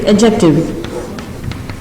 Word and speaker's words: adjective: It's adjective. In this, D is silent.